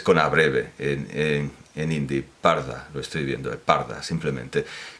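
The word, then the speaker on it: purdah: En este caso concreto, quiero pronunciarlo bien, el parda, porque los ingleses lo escriben con U, pero quieren indicar una A breve con esa U, el parda, que es una palabra persa, el parda, que ha pasado al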